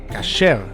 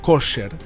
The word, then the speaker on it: kosher: La palabra hebrea kashrut, de donde viene la palabra kasher, o según la pronunciación ashkenazí, la más conocida, kosher, es el término hebreo